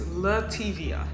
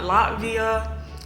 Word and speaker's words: Letivia: just explain my name my name is letivia not latvia latavia lativia latavia love tv